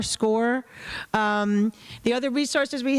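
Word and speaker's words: Scoir: We're going to go over score in a little bit. That's how we think we pronounce it. S c o i r score.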